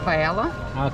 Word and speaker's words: paella: Roberta, help me with the pronunciation. Charcuterie board. No, this one. Paella.